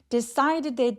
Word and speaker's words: decided: decided의 d는 모음사에 끼어서 굴러가는 소리로 decided.